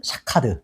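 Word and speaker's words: שֹׁקֵד: 가지는 살구나무는 샤케드, 지켜는 샤카드.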